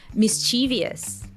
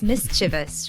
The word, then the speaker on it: mischievous: to I would say mischievous somehow like that but it's mischievous right it it does read like mysterious yeah ah maybe that's